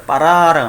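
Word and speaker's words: בָּרָא: 그 점이 있는 거는 뭐냐면은 세게 발음하는 거예요. 쌍비읍이야.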